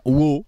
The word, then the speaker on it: Waugh: C'est un film de Rick Roman Waugh. Waugh, ça doit se prononcer Waugh. W-A-U-G-H, comment vous prononcez ça? Waugh? Waugh? Comme un walk, hein, avec The Rock, Dwayne Johnson, s'appelle Infiltré, Snitch.